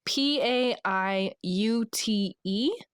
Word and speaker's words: Paiute: Washoe and I do not know how to pronounce this. Maybe you can help me, guys. It's p a i u t e.